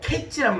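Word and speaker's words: קץ: 그런데 끝이란 말, 종말이란 말, 끝이란 말, 종말이란 말이 히브리어로 캐치란 말입니다.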